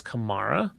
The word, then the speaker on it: Kamara: I believe it is Kamara.